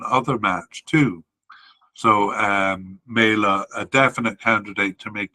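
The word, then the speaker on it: Mæhle: m a definite candidate and uh MAA it's properly pronounced and uh a likely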